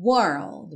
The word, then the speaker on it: world: bem comum Modern World e ó pro World basta usar o mesmo truque lá do Girl só que colocando D depois para fechar certo world world world or do you need